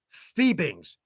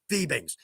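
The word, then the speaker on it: Fiebing's: to the folks at vibings um oh oh here's one note okay it's pronounced fibings and that's straight from the horse's mouth just think of it as f e e Bings right that's straight from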